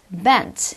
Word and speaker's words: event: 마지막 어 이벤트라 단어도 이벤 이츠가 아니라 bent event 해서 앞에 나오는 모음이 발음이 들리지 않는다라는 겁니다 자서 이거는 여러분 바꿔